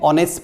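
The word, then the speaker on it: honest: इसको बोला जाता है तो ही इस एंड ऑनेस्ट पर्सन तो एक स्त्री के सामने को यूज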